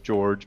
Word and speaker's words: Jorge: If they want to shoot me an email as well, it's Jorge or George, but it's spelled Jorge, J-O-R.